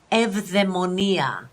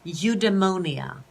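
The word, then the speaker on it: eudaimonia: can never thrive okay the greek word for thriving and flourishing is evdemonia eudemonia as the british say eudemonia so if you want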